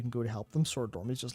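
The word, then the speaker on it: Soridormi: is the ursidormi is a sword or me sorry dormi s-o-r-i-d how good I was actually saying it right sword dormi yeah because we we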